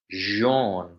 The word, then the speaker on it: Jean: yeah, it's Jean, like a French Yeah. Jean-Claude Van Damme. Imagine you're French.